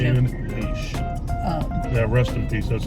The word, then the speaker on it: Heche: Anne Heche.